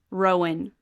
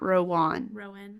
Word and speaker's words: Rowan: It is Rowan is how you say his name, not Rowan.